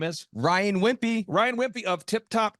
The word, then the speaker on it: Wimpey: Ryan Wimpy. Ryan Wimpy of Tip Top Canine. How do you spell it?